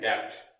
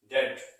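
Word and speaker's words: debt: पर लोग पढ़ते हैं डेप्थ। क्या पढ़ते हैं? डेप्थ। बट ये डेप्थ नहीं, इसमें बी साइलेंट होता है, लिखा DEVT जाता है, बट इसको पढ़ते हैं डेप्थ। क्या पढ़ते हैं? डेप्थ, डेट।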